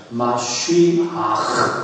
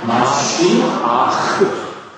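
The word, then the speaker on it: משיח: 껴 모르겠죠 한번 그냥 히브리 말로는 어떻게 발음하는지 한번 따라해보세요 마쉬 이렇게 발음해 다시 한번 마시아 예 메시아라는이 발음은 정확하게 말해서 아랍 말이 메시아 이렇게 말음 메시아 이렇게 발음하지만 히브리 말은 마시 아 이렇게 바요네 마지막 발음은 좀 거칠어요 이렇게 읽어요 이렇게 왼쪽으로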